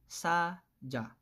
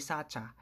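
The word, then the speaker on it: 사자: Next, we have saja. Saja, hindi sacha. Okay? Kasi nasa second syllable naman yung character na to.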